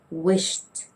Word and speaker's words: wished: It's supposed to be wished, wished with a t sound.